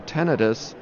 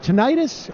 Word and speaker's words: tinnitus: Is it tinnitus or tinnitus? Well, and that's a good question because I think the actual pronunciation is tinnitus, but almost universally people pronounce it as tinnitus, right?